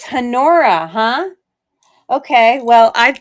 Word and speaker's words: Honora: I thought the H would be silent because a lot of times the H is silent. That's why I say honora. Like the word honor. It's hanora.